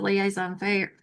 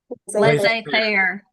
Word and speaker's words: laissez-faire: So the liaison fair, how do you say it? Laissez-faire.